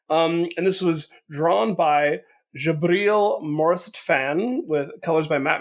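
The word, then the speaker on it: Djibril: And this was drawn by Jabril Morissette-Fan with colors by Matt Milla and letters by Corey Pettit. I looked up how to pronounce the artist name. Apparently, it's Jabril. The Arabic version of Gabriel, which I think is interesting.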